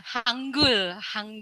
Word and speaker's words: Hangul: tentang langkah awal bagaimana cara menulis dan membaca Hangul. Betul ya Bu Desi ya? Pronunciation-nya ya? Bisa Pak, bisa. Hanggul.